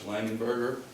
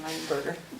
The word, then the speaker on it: Langenberg: I keep saying Langenberger. Come on up here. And I apologize, I even spelled your name wrong on this paper. It's Langenberg with a G at the end.